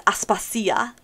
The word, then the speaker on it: Aspasia: actors um and so they pronounce everything in the modern greek um pronunciation and for espacia it's aspasia and so it's very nice